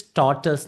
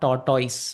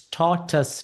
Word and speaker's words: tortoise: The correct pronounce is tortoise, not tortoise. Very mispronounced word. It's tortoise. Tus is the final sound.